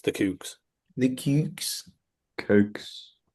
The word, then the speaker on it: The Kooks: They literally sing their name in one of their songs, and it's the Kooks. The Cukes. Cokes. Cooks.